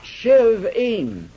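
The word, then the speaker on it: שבעים: The second word is pronounced shivim.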